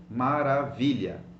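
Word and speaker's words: maravilha: cazza macca qu maravilla it's a long word Maura Vidya but you will stress the second last syllable it doesn't matter that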